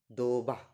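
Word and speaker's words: два: আদিন ওয়ান কে বলা হয় আদিন আমার সাথে উচ্চারণ করুন আদিন আদিন টু কে বলা হয় দোভা দোভা দোভা টু কে বলা হয় দোভা থ্রি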